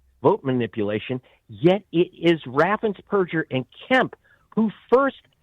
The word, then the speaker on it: Raffensperger: So does his Secretary of State, whose name is mispronounced as Brad Raffensperger. It's Raffensperger. He is the Purgeon General of Georgia.